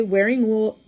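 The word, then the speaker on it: Wearingeul: Wearing Ghoul is pronounced that way. It's wearing, like wearing clothing, and ghoul, like a ghoul, but not like that.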